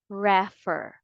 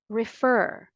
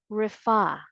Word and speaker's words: refer: American and British English the stress is on the second syllable not first so it's incorrect to say refer again the second syllable is stressed say it with me refer refer but if you